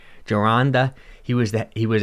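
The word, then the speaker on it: Gironda: always never pronounce his name how do you pronounce his name jaranda he was that he was ahead of his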